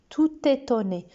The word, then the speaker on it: tout étonné: Elle est tout étonnée. Regardez que même si tout s'écrit avec un T, qu'il est au masculin, on fait la liaison. Il est tout étonné, tout étonné.